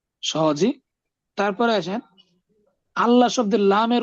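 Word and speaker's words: الله: তারপরে আসেন আল্লাহ শব্দের লামের উচ্চারণ এবং র এর উচ্চারণটা কেমন হবে।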